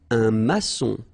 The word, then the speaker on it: maçon: Un maçon. Here you can see that we've got this little cédille beneath the C, okay? And it just means that you will pronounce this C as S, okay? So that's the reason why.